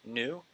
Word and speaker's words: GNU: know that's build GNU it's pronounced new go ahead and click